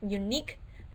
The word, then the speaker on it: unique: You could have them mark the syllable that gets the stress, the unique Q-U-E, the second syllable gets the stress.